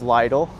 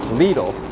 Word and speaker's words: Lidl: Yeah, I thought it was Lidl until the public address system said Lidl, not Lidl.